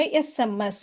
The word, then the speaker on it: SMS: இப்போ இதை நம்ம எஸ்எம்எஸ் இப்படி தான் ப்ரொனவுன்ஸ் பண்ணுறோம் இல்லையா?